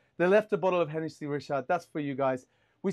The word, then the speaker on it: Hennessy Richard: And they left us a bottle of Hennessy Richard, you know, is that how it's pronounced?